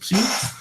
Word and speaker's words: psi: y entendió que es este psi, que justo se pronuncia parecido a phi, ¿no? Pero es psi.